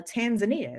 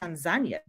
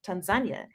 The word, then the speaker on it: Tanzania: I learned that it's actually not pronounced uh Tanzania it's pronounced Tanzania oh and I was able to yeah that's what the locals have that's what the local said Tanzania and the first thing I asked was I